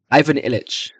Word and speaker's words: Ivan Illich: Um, can I get like a how to pronounce Ivan Illich? Ivan Illich.